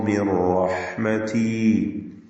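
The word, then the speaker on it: مِنْ رَحْمَتِي: ഉലൈക യഈസൂ മിർ റഹ്മതി. മിർ റഹ്മതി, ഇവിടെ സക്കനത്തായ നൂനിനെ ഇദ്ഗാം ബിലാ ഗുന്ന ചെയ്ത് റായിലേക്ക് പൂർണ്ണമായും ലയിപ്പിച്ച് മണിക്കാതെ ഉച്ചരിക്കണം. മിർ റഹ്മതി, നൂനിന്റെ ഉച്ചാരണം തീരെ ഇല്ലാതാവുകയാണ്. റാ മാത്രമാണ് പിന്നീട് ഉച്ചരിക്കപ്പെടുക.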